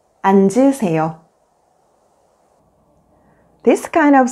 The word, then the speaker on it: 앉으세요: When the 겹받침, 니은, 지읒 is followed by a vowel, only the first consonant, 니은, is pronounced and the second consonant, 지읒 becomes the initial consonant in the next syllable. For example, 얹어, 앉을, 앉으세요.